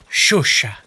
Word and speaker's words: Chauchat: pronounce this one this time that it's it's pronounced shush shush shush shush noty at the end as